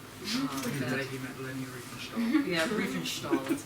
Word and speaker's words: Riefenstahl: Yeah, Riefenstahl, that's how you say it.